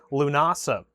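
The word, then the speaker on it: Lúnasa: Lunasa. Lu nasa. I think that's how you pronounce it. That's how they pronounced it when we when I went and saw them in concert.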